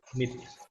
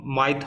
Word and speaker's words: myth: पुरानी कथा, मिथ। ठीक है। इसको प्रोनाउंसिएशन आपकी बहुत जरूरी है। माइथ मत बोलते हैं ना इसको देख के, मिथ, मिथ, मिथ।